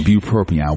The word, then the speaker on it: bupropion: Bupropion, which is Wellbutrin.